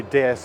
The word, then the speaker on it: DS: This is the DS, which translates literally from the way DS is pronounced in French into goddess, and it really was a goddess of motoring when launched here in Paris in 1955.